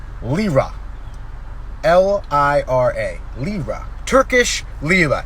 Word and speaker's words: lira: that i can read it i just can't pronounce it it's only four letters lira l-i-r-a lira turkish lila it's the money they